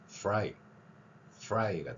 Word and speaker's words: fry: 자, F 발음에서는 똑같이 하고 R 발음에서는 O를 섞습니다. 그래서 후라이가 아니라 fry가 되는 거죠. F 발음 해보세요. fry. 영어의 R 발음은 O가 섞입니다.